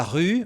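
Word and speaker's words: rue: Nesse caso aqui é o se promen la ru. Olha aqui, ó. Ru ru. Só falar o i e fazer o biquinho.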